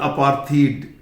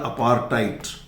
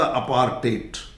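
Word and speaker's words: apartheid: इसके कुछ लोग बोलते हैं अपार्थीड, अपार्थीड नहीं है, अपार्थियड भी नहीं है, ये है अपार. इसके दो प्रोनाउंसिएशन है, एक तो है अपार्थाइड. ये मान लीजिए एच जो है ना ये साइलेंट है और ये डी का प्रोनाउंसिएशन टे, या फिर ये होता अपार्टेट, अपार्टेट. बाकी नॉन अलाइनमेंट, डिप्लोमेसी, कॉमनवेल्थ,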